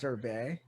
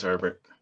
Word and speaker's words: Herbert: I believe it's pronounced Herbert. No, it's Herbert. It's French.